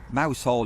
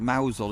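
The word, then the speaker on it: Mousehole: Um it's a bit like mouse hole in Cormal's pronounced mousel, isn't it?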